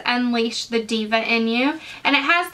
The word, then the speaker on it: D'VA: I'm talking about is called Diva Beauty and it's spelled D apostrophe VA so they're a new